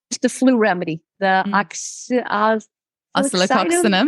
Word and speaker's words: Oscillococcinum: My other remedy that I probably share the most with people is the flu remedy, the oscillococcinum.